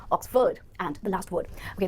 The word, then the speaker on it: Oxford: उसका admission ऑक्सफोर्ड university में हो गया है, या फिर आप ऑक्सफोर्ड डिक्शनरी यूज करो, ऑक्सफोर्ड नहीं, ऑक्सफोर्ड, FORD will be pronounced as ford here, Oxford.